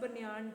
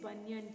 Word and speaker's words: banyan: Don't give that pronunciation banyan tree. It's not banyan tree. It is banyan tree.